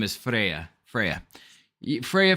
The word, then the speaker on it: Freya: baby her name is Freya Freya Freya for the easy people if you're Norwegian it's pronounced Freya f-r-e-y-a like the Norse